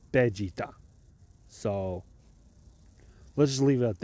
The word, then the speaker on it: Vegeta: Vegeta is not pronounced Vegeta in Japanese; it's pronounced Vegeta.